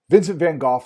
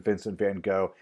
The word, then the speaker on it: Vincent van Gogh: Vincent van Gogh is the correct way to pronounce his name, and here's where I'm just going to apologize. I grew up learning his name as being Vincent van Gogh, and that's just what comes out when I